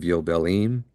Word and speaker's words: Yobelim: We just finished with the book of Yobelim and now Jubilees. For everyone who's not familiar with that, yobelim is the Hebrew way of pronouncing the word. The the letter J switched for the yod, but that's not important at this point.